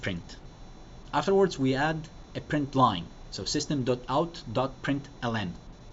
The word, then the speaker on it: println: Afterwards we add a print line. So system.out.println. It's pronounced print line, but you type println.